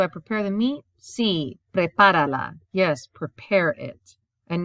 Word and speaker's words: prepárala: Sí, prepárala. Yes, prepare it. And notice the accent appears because without it, it would change the sound.